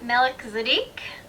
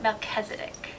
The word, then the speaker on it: Melchizedek: Some say Melchizedek, some say Melchizedek, others probably say it in ways that I haven't heard before.